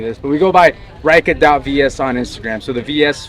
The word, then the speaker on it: Reika: So the name is pronounced Reika.